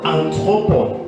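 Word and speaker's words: ἄνθρωποι: Le mot homme ici se prononce anthropole.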